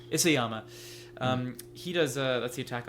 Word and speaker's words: Isayama: Is it Akiyama? I don't want to get his name wrong. Isayama.